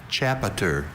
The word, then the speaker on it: chapiter: Once again, it hinges on the schwa in that middle syllable. That sound that could be any vowel.